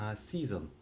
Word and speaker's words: season: До речі, пам'ятаєте, е, а читається як і, тому читаємо не се, а season.